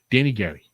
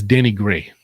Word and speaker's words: Danny Gray: excuse me danny gary danny gary i'm gonna pick on the great let me check out his name right well i see oh great i got gary anyways it's danny gray i got his name wrong